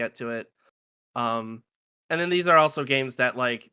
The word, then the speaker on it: AI: And then in Japanese AI uh is how you pronounce I as in like love I and then on top of that there's a visual motif of eyeballs everywhere.